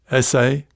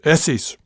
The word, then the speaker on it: essay: double s a y my way of saying it rhyming with nessie but the kiwi pronunciation much longer as in the verb